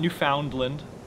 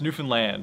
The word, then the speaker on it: Newfoundland: It’s not new-found-lind. It’s not new-fin-land, it’s new-found-land (rhymes with) understand?